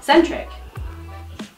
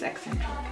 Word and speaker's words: eccentric: Centric. Eccentric? Yeah, I think it's eccentric. It's ECC. Whatever that is. Saying English centric. I've been saying it wrong the whole time.